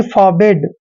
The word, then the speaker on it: forbid: Next है FORBID, FOR का उच्चारण हम फार करते हैं और BID को बिड पढ़ते हैं, यानी कि फॉरबिड।